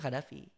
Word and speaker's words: Khadafie: Sama aku mau mention ya, Gaddafi itu bukan pakai Y guys. Nama aku tuh aslinya Khadafie. Oh, Gaddafi. Tapi tetap dibacanya Gaddafi.